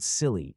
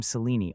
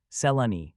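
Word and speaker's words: Selene: Half the Selenis I know are called Silly and the other half Lena. Which are you? Neither I am Seleni, all three syllables. Salani, she said, coming down heavily on the first syllable.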